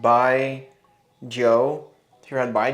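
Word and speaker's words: Baijiu: If you guys know, if you've ever had, it's pronounced Bai Joe.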